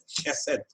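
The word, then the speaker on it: חסד: Chesed, those people they pronounce it chesed because there is no K in Hebrew, there is only Che.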